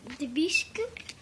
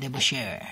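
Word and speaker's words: DeBusschere: Got Dave Debuscu. How do you say that? Debuscher.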